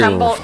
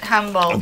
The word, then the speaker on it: Humboldt: It's Humboldt. Trailer hitches there. I was fixing it because it's pronounced differently than humble, but they build them.